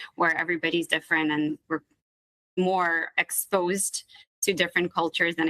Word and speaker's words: Mor: So more in Hebrew, it's pronounced mor.